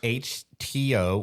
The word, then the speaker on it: HTeaO: It's called HTO, which is a play on words of like H2O, but instead of two, it's spelled TEA. So it's HTO.